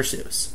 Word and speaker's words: Seuss: Seuss. I think it fits though. It rhymes with loose, you know, like his drawing style.